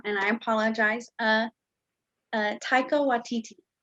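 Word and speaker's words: Taika Waititi: i apologize uh uh taiko watiti that is perfect that is how you say it taiko with td so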